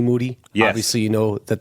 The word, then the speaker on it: Moody: the name of Moody obviously you know that the last name rhymes with Duty um this is the